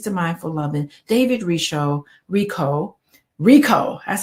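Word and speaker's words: Richo: the five keys to mindful loving David risho Rico Rico that's how you pronounce it and I'm on page 145 and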